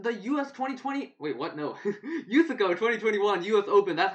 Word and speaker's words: USACO: to be doing the us2020 wait what no use ago 2021 us open that's how you say it